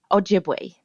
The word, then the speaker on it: Ojibwe: a member of the ojibwe nation is that is and i've always wondered it is ojibwe or ojibwe ojibwe jib okay just like it's spelled okay great what a